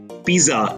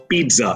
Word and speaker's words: pizza: the L is silent it's not pizza it's pizza and that comes with a certain savoo Fair of when you have to roll your tongue with a double Zed and pizza I also hear people